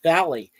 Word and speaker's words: valle: The same thing with like the word valley is valle. And the way it sounds like a Y is there's two letter L's there.